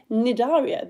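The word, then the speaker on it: Cnidaria: coral is in the nidaria the sea is silent phylum which means it's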